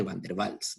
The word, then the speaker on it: van der Waals: porque es un apellido alemán y los alemanes pronuncian esta obra en común entonces generalmente se le llama fuerzas de van der waals no watts y por el otro lado vamos